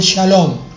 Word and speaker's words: Shalom: Shalom se escribe S-H-A L-O-M, Shalom.